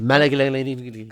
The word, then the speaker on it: Malignaggi: Paulie Malignaggi. Yes. That's exactly how you pronounce his last Yeah. name too. Malignaggi. Can't pronounce anything with an I and an L.